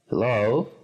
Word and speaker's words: hello: En esta palabra sería hello. Subrayamos hello, el acento en la segunda sílaba.